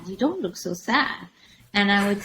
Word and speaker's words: Saad: last name but anyways you would pronounce it like sadness but it actually means happiness I love that I